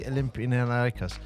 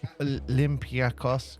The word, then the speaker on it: Olympiacos: But the K is more like almost Paul, like a G.